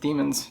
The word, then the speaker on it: daemons: I think technically it's pronounced demons now that I'm in my 30s and I'm a better reader.